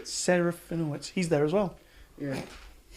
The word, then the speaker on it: Serafinowicz: Serafinowicz.